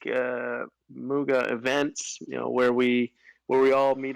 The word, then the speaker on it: Muga: It is pronounced Muga, like a cow.